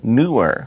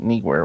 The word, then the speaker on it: Neewer: are here is the newer I got confirmation that is how you pronounce it newer I always thought knee where we're starting way but